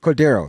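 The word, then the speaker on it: Cordarrelle: cord however you say his name Patterson Cordo Cordo that's it Cordo Patterson uh that might be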